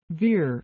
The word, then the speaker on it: Ver: at his document the guide his interview of Bitcoin dot-com CEO Roger Vere set for airing Friday May 11th mr. veer rhymes with beer has been interviewed a